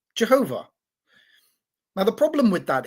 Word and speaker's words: Jehovah: And so they thought that the vowel pointing that says Adonai is how you were meant to pronounce the name of God. And so they came up with Jehovah.